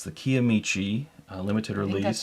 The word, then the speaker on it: Kiamichi: It's the Kiamichi limited release.